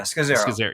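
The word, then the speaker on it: Scazzero: Scazzaro? Yeah, Scazzaro.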